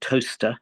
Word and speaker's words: Towcester: But luckily, perhaps, we moved to a town when I was about 9 called Towcester in the Midlands there. Towcester, it's spelt, a lovely little Roman town on the A5.